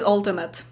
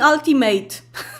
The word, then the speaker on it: ultimate: hi leshack stop saying ultimate that's not that's not how you say it actually a lot of things that end with ate are like those endings are pronounced as it not eight not always um there